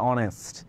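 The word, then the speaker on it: honest: অনেস্ট এর মধ্যে কি এইচ সাউন্ড আছে? এইচ এর সাউন্ডটা কিন্তু সাইলেন্ট। এইযে দেখ সাউন্ড। এইযে 46 টা সাউন্ড। এইচ এর একটা সাউন্ড থাকার কথা তাই না? কিন্তু এইচ এর সাউন্ডটা কি সাইলেন্ট থাকে।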